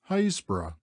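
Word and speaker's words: Happisburgh: and by the Trinity board hbro it is pronounced locally hbra leaving hbra we walk along the beach Southward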